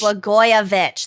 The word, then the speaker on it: Blagojevich: This is, okay, so I forgot how to pronounce his name. Illinois Governor Rod Blagojevich. Blagojevich, that's what it was.